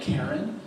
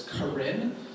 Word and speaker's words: Karen: They teach 2 tracks, one in the Karen language, spelled like Karen, but it's Karen, and also in English.